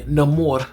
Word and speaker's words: Namor: terms because Neyar or excuse me, Namore, let me say his name as he's he, you know, he chose to say it.